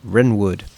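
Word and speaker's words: Wrenwood: the Midwestern city of Renwood. I got to remember the uh W is silent.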